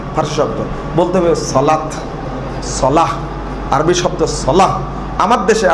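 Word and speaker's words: صلاة: সালাত, জাকাত, ইবাদত, শাহাদত। অত সবগুলো আরবি উচ্চারণ কি? সালাহ, জাকাহ, শাহাদা, ইবাদা।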